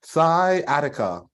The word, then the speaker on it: sciatica: So don't even look at the spelling, because sometimes the spelling trips you up. So think of like sigh, like you taking a deep sigh, like sigh, and then I'm gonna be at your house.